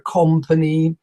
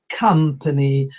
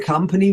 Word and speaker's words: company: your dad another word that many business people mispronounce they say I work for a company but it's not a company it's a company I work for a company wheat and so on so company also country